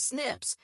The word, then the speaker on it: SNPs: snps single nucleotide polymorphism pronounced as Snips occur in humans this